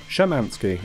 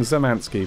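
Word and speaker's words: Szymanski: developer himself david schamanski shamanski i believe i'm saying that right now i was saying zamanski but that's apparently not correct my most popular video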